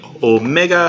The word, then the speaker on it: omega: Oh Meg and the Omega sounds like the O in tone it's a long Oh sound and it is always a long o sound so it's not like